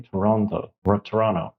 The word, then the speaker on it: Toronto: And I learned that you're supposed to say Toronto, and not pronounce the T, because that's just a foreign thing, or people that are not from Toronto.